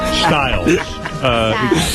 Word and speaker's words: Stylez: It's pronounced Stylez, apparently. Stylez. Don't let the spelling fool you.